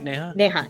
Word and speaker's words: Neha: All right, Neha, am I saying it right? Neha, yes.